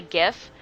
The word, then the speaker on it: GIF: guy who invented it the guy who actually invented the file type said that it's pronounced GIF like the peanut butter so uh so officially